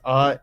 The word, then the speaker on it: Orndorff: And it's Ondorff, and that's Mr.